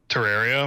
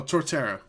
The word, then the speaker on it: Torterra: I had Terraria. Is that how you say his name? The turtle. Oh, Torterra.